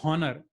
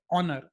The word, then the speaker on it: honor: So you don't say honor, you say honor. So an honorable man. We don't say a honorable person. We say an honorable person because the word honor is pronounced with the start as a vowel.